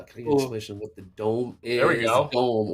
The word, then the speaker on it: DOM: Uh that's the dome. Dom. I call it the ladder. See, that's where you see the dom uh stands for depth of market. They pronounced the dome and it confused the entire I remember that